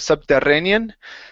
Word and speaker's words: subterranean: this word here okay watch the RS even though there are two RS in a row okay we don't roll them in English Okay so instead of subterranean Subterranean Subterranean Subterranean M